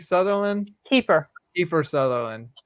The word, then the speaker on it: Kiefer: Keith Sutherland. Kiefer. Kiefer Sutherland. I always get his first name wrong.